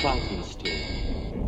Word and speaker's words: Frankenstein: My name is pronounced Frankenstein.